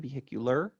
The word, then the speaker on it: vehicular: sound at the end vehicular when you add in that extra unit it strips it shifts the stress so that it's still